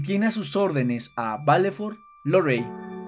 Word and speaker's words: Valefor: Pronunciación, Keiman Befatasa Valefor.